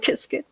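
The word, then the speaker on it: Qiskit: qs get kissed yeah everybody has their own pronunciation but i the creators of kia skate call it biscuit so i call it kiskin yeah yeah and you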